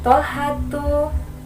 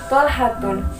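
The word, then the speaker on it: طلحة: Jadi, jangan sampai salah pengertikan atau salah pengucapan. Hamzatun, Muawiyatun, Tolhatun. Salah besar karena sudah ketentuannya. Sudah tata bahasanya bahwasanya nama laki-laki yang berakhiran tamarbuto, dia termasuk isim ghairu munsharif yang tidak boleh ditanwin.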